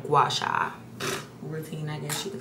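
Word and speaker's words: gua sha: That's why I've been really into my gash, not gi I know how to I know how to say it. Guasha. I've been really into my like gouacha routine, I guess you could say.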